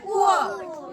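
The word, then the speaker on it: poor: পুর বলবে না বা পোর বলবে না, কি বলবে? পুয়ার।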